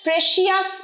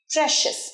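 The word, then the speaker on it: precious: বলো আমার সাথে don't waste your প্রেসিয়াস time প্রেসিয়াস নয় প্রেসিয়াস প্রেসিস বলো আমার সাথে প্রেসিস আরেকবার প্রেসিড পারফেক্ট ডোন্ট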